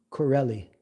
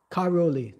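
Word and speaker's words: Karauli: Now Madu Mahan Mu Mahanji today is not in Vindavan is in Corelli. The modern moan deity had been shifted to Corelli. First to Jaipur first Karoli.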